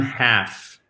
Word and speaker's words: half: One half. Et donc, qui s'écrit H-A-L-F, mais le L ne se prononce pas.